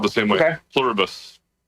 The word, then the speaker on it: Pluribus: You're saying Plurabus? Okay. On the back of a US coin, it says E Plurbus Unum. So, it's spelled the same way. Okay. Pluribus.